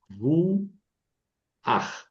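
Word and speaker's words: רוח: Es más fácil decir ruaj que ruj.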